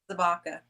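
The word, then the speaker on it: Zabka: How you pronounce his last name again? William what? Zabaka.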